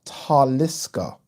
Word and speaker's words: Taliska: Wolf Ticket says, Ade, I love the channel, but Taliska is pronounced with the emphasis on the first syllable. Ah, Taliska.